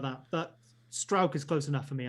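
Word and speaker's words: Struijk: There's kind of like halfway between like an ow and an o is how you pronounce that UI.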